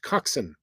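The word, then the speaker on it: coxswain: orders from a coxen that is pronounced coxen uh in what sport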